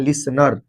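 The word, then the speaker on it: listener: तो सुनने वाले को हम लोग बोलते हैं लिसनर। क्या बोलते हैं? लिस नर। है ना? लिस्टेनर में समझ लीजिएगा। टी साइलेंट रहता है। इसलिए इसको क्या पढ़ेंगे? लिसनर। ठीक है?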